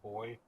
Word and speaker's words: BOI: And if people want to hear that single or album from Boy, where could they hear this?